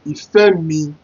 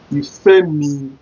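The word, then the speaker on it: Ìfẹ́mi: Then number 2, we have Ìfẹ́-mi. Ìfẹ́-mi.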